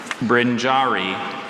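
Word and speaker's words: brinjarry: Brinjari.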